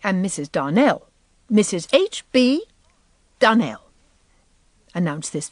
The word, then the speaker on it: Donnell: Now, Miss Shirley, the correct pronunciation of our name is Darnell. Accent on the last syllable.